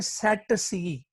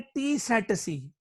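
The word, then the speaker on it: tsetse: फ्लाई है जिसका नाम, या तो आप इसका पहला टी साइलेंट करके पढ़ लें, पहला टी साइलेंट करके पढ़ लें, सेट सी, सेट सी, सेट सी हूं नहीं, सेट सेट सी, तो सेट सी पढ़ लें या फिर पढ़ लें टी सेट सी। यानी पहले टी को अगर आपने बोलना ही है तो बोलें इसको टी सेट सी, या पहले टी को साइलेंट कर दें, कहें सेट सी फ्लाई।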